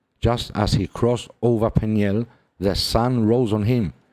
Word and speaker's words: Peniel: oh in Jordan see the name peniel pronounced pen is Lay is a Hebrew word